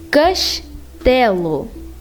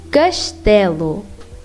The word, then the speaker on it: castelo: Now, when there's one S at the middle of a word or at the very end, it will be pronounced as sh, like castelo, castelo, pastas, pastas.